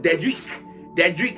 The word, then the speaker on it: Dedrick: But Dedrick is how that's pronounced.